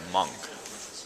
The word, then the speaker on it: Munch: So that was the scream, and the guy's name's not Munch, it's Monk. That's how you say it apparently.